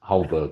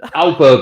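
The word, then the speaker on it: Højbjerg: Hojbjerg, I call him Hojbjerg next to Iceberg.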